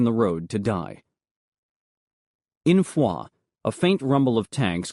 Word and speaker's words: Foy: mount a foot patrol from Fua or as we pronounced it foy along the main road toward Noville.